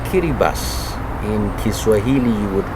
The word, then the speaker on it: Kiribati: country many perhaps wouldn't even know it's called kitty bus in kiswahili you would call it kiribati but it's actually pronounced as kitty bus your excellency welcome to WT me thank you